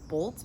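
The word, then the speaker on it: Bult: I think his last name is pronounced Bolt, B-U-L-T, and he's incredible.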